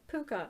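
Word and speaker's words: puca: it was like when i looked at the pronunciation it was like puka and i'm like oh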